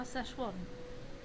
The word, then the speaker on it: Szechuan: All I know is how to pronounce it the correct way now. Szechuan.